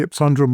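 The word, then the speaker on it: ipsundrum: but nonetheless yes that's you asked about the epundrum and that's what it is that's how I pronounce it okay yeah cool and I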